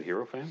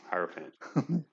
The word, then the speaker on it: hierophant: understand what they're doing i said hero fan yeah where is hero fan oh higher fan yeah yeah well that's my